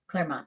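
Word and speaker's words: Clermont: Um TTO is in is it pronounced Claremont? Claremont.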